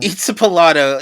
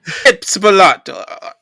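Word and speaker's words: Itzpapalotl: Itzapalato is spelled ITZPA. Good luck. PALOTL. Which I keep on wanting to throw some sort of Italian accent on this, like it's Papalato. Itzapalato.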